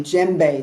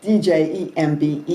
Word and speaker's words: djembe: I'm going to be using a djembe. This is pronounced, it's spelled D-J-E-M-B-E. You don't pronounce the D.